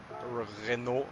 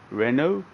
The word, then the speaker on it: Renault: No, I don't have the Renault, or I don't know how you pronounce it.